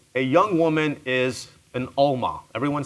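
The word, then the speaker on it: עלמה: So in Hebrew, a young woman is an Alma. Everyone say Alma. Well, Alma, good Sephardic pronunciation.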